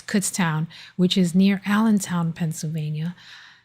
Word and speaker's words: Kutztown: I say cuts and he teases me. It's Kutztown, which is near Allentown, Pennsylvania.